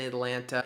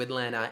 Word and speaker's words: Atlanta: One of the T's in Atlanta is silent.